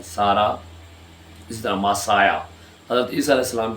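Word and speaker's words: Messiah: इसी तरह मासाया, हज़रत ईसा अलैहिस्सलाम के जिसमें जिसे लोग अक्सर मसीह भी पढ़ते हैं, तो इंग्लिश में इसका जो प्रोनाउंसिएशन है वो मसाया।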